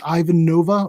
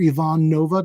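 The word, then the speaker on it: Iván Nova: target the Astros against Ivanova or Yvonne Nova depending on how you like to pronounce it he has been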